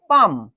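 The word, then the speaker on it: palm: ্যাট stood আপন হি পাম and board এখানেও কিন্তু এল এর উচ্চারণটা হবে না পাম বলব না পাম বোড কি বলা হচ্ছে আটার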